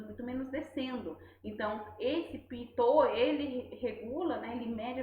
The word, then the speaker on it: pitot: de um sensor pinote, que é o pitot, se pronuncia pitot, tá?